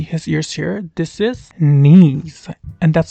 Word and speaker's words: Neez: This is Neez, and that's spelled N-E-E-Z.